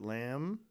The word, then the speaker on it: lamb: And the bullshit lamb. And the bullshit thumb. MB. As soon as you think, oh, every single word that ends with MB, the B is silent.